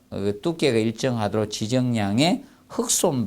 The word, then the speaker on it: 흙손: 이렇게 바르는게 있습니다 예이 흙손이라 합니다 흑손 발음으로 해 주시면 되겠고 그리고 뭐 마무리 작업에서